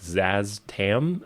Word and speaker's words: Szass Tam: for this character whose name I think is pronounced like Zazz Tam, I think is how you technically pronounce it, but what he is is a lich and a lich is a zombie.